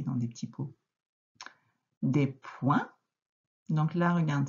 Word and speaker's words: points: Donc là, regarde, c'est le T qui est muet à la fin, donc ce n'est pas ce point-là. C'est le point, hop, qu'on met à la fin de la phrase. Donc des points.